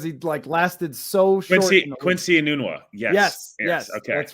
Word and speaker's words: Enunwa: The guy who led them in 2016, I don't remember how to pronounce his name because he lasted so short. Quincy Enunwa.